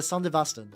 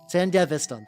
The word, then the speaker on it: Sandevistan: Yeah, the Sandevastan. There we go. I'm pronouncing it wrong horribly.